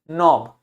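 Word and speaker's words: knob: के लिखा है फिर एन लिखा है तो के को प्रोनाउंस नहीं करेंगे, क्या हो जाएगा? नॉब। क्या हो जाएगा? नॉब।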